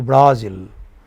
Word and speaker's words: Brazil: Say Brazil. Okay? So zil is more prominent. You don't say Brazil. You say Brazil. You know? So zil is heard for a long time.